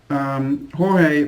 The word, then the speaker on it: Jorge: So, Jorge, did I pronounce that correctly?